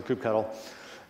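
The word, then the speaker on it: kubectl: so this do cuddle I'm gonna go with the the cuddle pronunciation like Kelsey hot tower does for coop cuddle it's managed it's used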